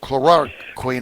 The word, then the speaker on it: chloroquine: Tell us about the utilization of chloroquine.